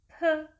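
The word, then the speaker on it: 피읖: Next, the thirteenth Consonant is called "Phi-Eup". The way to sound "Phi-Eup" is similar to "P" sound in Roman Alphabet but adding extra air to a sound (became "Ph"), So, the way to pronounce "Phi-Eup" is "Pheu", "Pheu", "Pheu".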